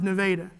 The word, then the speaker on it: Nevada: and like oklahoma towns that the way it's pronounced is nevada there's a town in oklahoma called miami it's